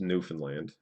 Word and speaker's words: Newfoundland: If we're here in Newfoundland, and it is pronounced Newfoundland, then it's St.